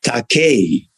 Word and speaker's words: Takei: well what uh and how it should truly be pronounced is taque obviously a lot about